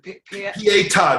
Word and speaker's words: Pietà: Pietà, it's spelled P-I-E-T-A.